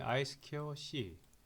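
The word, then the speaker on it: I²C: 자, 이것은 우리가 읽을 때는 보통 사회에서 두 가지라고 읽어요. 하나는 한글로 쓰겠습니다. 그냥 이 2가 스퀘어라는 의미죠. 그죠? 스퀘어 그 다음에 I 스퀘어 C.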